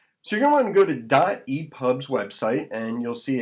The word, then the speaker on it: dotEPUB: in a moment so you're gonna go to dot epubs website and you'll see it's do te pu b it's pronounced dot e pop not doop pub so you get a dot e pub and